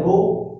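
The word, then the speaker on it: ρ: ये रो होता है, पढ़ा जाता है, प्रोनाउंसिएट करते हैं रो, और इसको डेफिनेशन वाइज क्या बोला जाता है, रेजिस्टिविटी।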